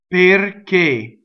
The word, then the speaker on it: perché: Next is two closed e's, a, right? Perché, so perché, right?